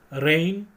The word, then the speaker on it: reign: डी, रेन और रेन, 3 रेन है, ध्यान में रखो, REIGN, REIN, RAIN, इन तीनों का प्रोनाउंसिएशन सेम है, स्पेलिंग अलग अलग है और मीनिंग भी अलग अलग है, होमोग्राफ।